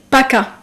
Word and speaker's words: PACA: So those are the departments of the Provence, Alpes, Côte d'Azur, which is also called PACA. Okay, PACA. How do you spell it?